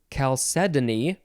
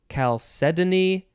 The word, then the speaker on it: Chalcedony: don't feel confident, but I have found out that there are so many different ways to say this word. Whatever way you say it is probably fine. You can say it Chalcedony. Oh, it's spelled Chalcedony. You can say it Chalcedony, Chalcedony, Chalcedony. Yeah, there's a number of ways.